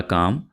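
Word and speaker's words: calm: होता है, ये वाला काम, ये इस वर्ड को हम इस तरह से पढ़ेंगे काम, क्योंकि यहां पे आपने एल को साइलेंट रखना है।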